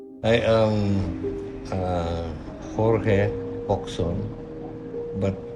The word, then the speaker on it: Jorge: I am Jorge Oxon but pronounced as George no ory because it's Spanish for George okay I am a